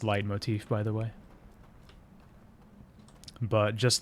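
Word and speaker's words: leitmotif: it that way I I know it's supposed to be pronounced light Motif by the way but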